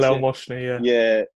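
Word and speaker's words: Bilel Mohsni: I remember there was one game for Shrewsbury at Roots Hall, and it was the Bilal Moshni, was it? Is that how you pronounce it? Bilal Moshni, yeah.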